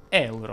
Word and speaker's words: euro: mi è stato chiesto anche se si dicesse euro oppure euro ebbene la pronuncia esatta è euro come curiosità ti dico